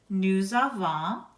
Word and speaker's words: nous avons: Nous avons, we have. Vous avez, you have. Ils ont, they have. Elles ont, they have. Note, the S of nous, vous, il, and elle is pronounced Z or Z when a vowel comes next.